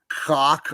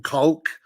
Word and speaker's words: caulk: Putting cock on this caulk. We have to pronounce the L. So putting caulk on the saran wrap.